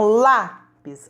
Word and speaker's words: lápis: Então, lápis, acentuada com acento agudo, porque é o som aberto.